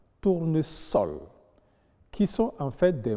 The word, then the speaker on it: tournesol: Il y a donc des exceptions, notamment dans les cas où le S est entouré de voyelles, mais se prononce quand même S. Il s'agit de susurrer, vraisemblance, tournesol, qui sont en fait des mots composés déguisés.